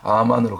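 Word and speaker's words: אמן: 아멘으로 끝내는 것이 아니라 아만으로 그대로 우리가 아멘 했으면 원래 아멘의 발음 히브리어 발음이 아만 아만으로 살아내는 단계까지 순종의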